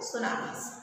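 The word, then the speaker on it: tsunamis: ये लिखा है टी से, लेकिन प्रोनाउंस करोगे इसको सुनामीज।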